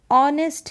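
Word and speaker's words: honest: हम ए लिखते हैं लेकिन यहां पर ऑनेस्ट है ऑ ऑ का उच्चारण हो रहा है क्योंकि एच तो क्या है साइलेंट है ओ साउंड दे रहा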